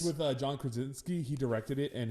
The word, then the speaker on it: Krasinski: It's with John Krasinski. He directed it, and it's his wife Emily Blunt. What's his last name? How do you pronounce John Krasinski.